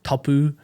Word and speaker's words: tapu: the rules, and it's tapu and noa. Tapu meaning sacred. Tapu is actually, or the variance of tapu is actually the origin of the English word taboo. Okay. Was a mispronunciation of it, which is now we